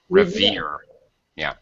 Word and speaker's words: revere: Revere. Yeah, second syllable stress. Mhm. Related to reverence.